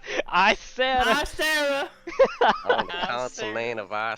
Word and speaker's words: Issarah: You should You're decide all on how to fucking pronounce mad. your continent. Issarah. Sarah. It's Issarah.